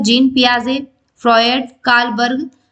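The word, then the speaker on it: Piaget: दिए गए हैं जीन पियाजे फॉयड कार्लबर्ग या फिर उपरोक्त सभी ठीक है सो हमारा राइट ऑप्शन हो जाएगा जीन पिया जे क्या हो जाएगा इसमें टी साइलेंट ठीक है स्टूडेंट सो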